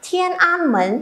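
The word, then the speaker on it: 天安门: Thiên An Mến, Hán Việt là Thiên An Môn.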